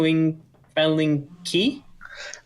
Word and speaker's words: Lingqi: So, Fan Ling Qi. Fang Lingqi. Yeah, just QI in Chinese is pronounced as like CHI in other languages.